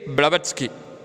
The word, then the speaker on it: Blavatsky: So pronounce it H.P. Blavatsky.